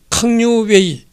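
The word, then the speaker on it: 康有爲: 7월 1일 새벽 장쉰은 청나라 저복을 입고 캉류웨이, 이게 캉류웨이라는 사람인데 이게 이제 캉류이라는 사람이죠. 그러니까 중국 발음으로는 이제 캉류웨이고 그냥 한자 발음은 캉류이라는 사람인데 이 사람은 1958년 3월 19일에 태어나가지고 1927년 3월 11일에 사망했다.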